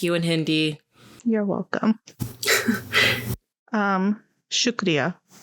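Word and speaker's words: शुक्रिया: Shukriya. Shukriya? Like I shook Ria.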